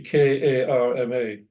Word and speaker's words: karma: In India, the K-A-R-M-A is often pronounced karma to distinguish it from karma, which is K-A-M-A, and which is usually thought of as desire, as in the Kama Sutra, for example.